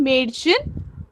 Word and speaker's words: Mädchen: Okay, हम लोग English में ये CH का प्रोनाउंसिएशन अलग करते हैं थोड़ा. जर्मन में हमें करते वक्त Ein Mädchen lacht.